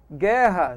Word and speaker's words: guerra: Guerra, GU é dígrafo. Por quê, pessoal? Tem som de G forte. O U não é pronunciado, não é isso?